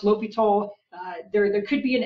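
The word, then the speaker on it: L'Hôpital: previous techniques and that one rule is called l'hopital's rule now just based on the different spellings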